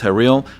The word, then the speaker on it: Haril: Yeah, Haril.